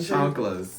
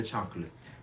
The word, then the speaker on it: chanclas: I'm pretty sure it's chanclas. I thought it was chancletas. I mean, maybe that's Cuban. Shit. I'm from LA. We do Mexican Spanish where I'm from.